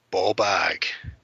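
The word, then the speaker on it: bawbag: Ball bag. It is ball bag, but it's spelled B-A-W.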